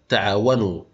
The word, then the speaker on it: تعاونوا: ابن امراه اعتراض استقرار الحاله التانيه اللي بنكتب فيها الالف ولا ننطقها هي الالف الفارقه اللي بتيجي بعد الافعال لما يتصل الفعل به واو الجماعه على سبيل المثال تعاونوا احسنوا لن يستخرجوا فهنلاحظ ان في الافعال ديت اتصلت واو الجماعه بالافعال ديت فاضيفك الف ولكن الالف ديت لم تظهر في النطق لاحظ بان واو الجماعه